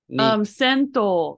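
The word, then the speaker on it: 先頭: Sento is how it's pronounced. Sen from sensei, right? And to is how atama is read when it's married.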